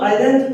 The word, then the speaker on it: island: अभी इसको आइलैंड पढ़ते हैं, पहले भी आइलैंड पढ़ते थे।